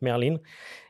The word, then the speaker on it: Merlin: je suis pas s Merline ou Merlin alors ça s'écrit Merlin ouais c'est le nom du du faucon emerillon en anglais donc Merline et et celle-ci elle